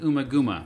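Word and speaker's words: Ummagumma: studio album that year umagama also may be pronounced umaguma released by Harvest records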